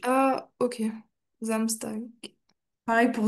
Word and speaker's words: Samstag: Euh et fais attention à la prononciation de Zamstag. C'est vraiment comme un un Z au début. Ah ok. Zamstag.